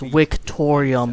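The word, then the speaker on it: Victoriam: victoria means and it's victorium because in latin you pronounce it with a w not a v dicks our rallying cry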